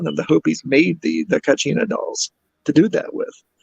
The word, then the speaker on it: Kachina: They had their, oh God, if I can pronounce it right, it's Kachina, Kachina.